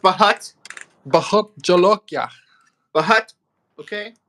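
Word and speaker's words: Bhut: I think his name is pronounced Bahut.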